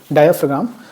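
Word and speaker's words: diaphragm: Pronunciation सही रखिएगा। डायफग्राम।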